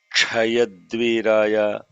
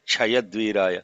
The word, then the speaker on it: Chayadviraya: So you cannot Chayadvir, you cannot say Chayadviraya. You have to say Chayadvir, Cha, Ya, Dvi, Ra, Ya. So when say Dvibarha iti Dvi, every single letter is pronounced.